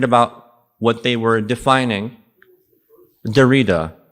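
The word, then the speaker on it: Derrida: what they were defining Dera D or I mean his French maybe is how he would like for it to be pronounced d e r r i d a and uh the second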